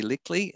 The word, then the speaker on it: Lickley: for mispronouncing your name i took rix and i took lickley and i put them together into rickly so lickley apologies uh for for that